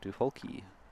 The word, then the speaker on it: Duholke: I was unaware that pronouncing Jim's last name has a long E at the end, so Duholke.